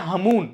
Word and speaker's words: Hamoon: लेकिन ये जो तूफान है तेज के कंपैरिजन में हमून जो तूफान बताया गया, जिसकी स्पेलिंग है HAMOON, इसकी फिर भी जो पॉसिबिलिटीज